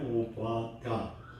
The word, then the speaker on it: 오바댜: 오늘 본문에 오바댜, 발음이 어렵네. 오바다라고 하면 쉽게 할 텐데 오바댜.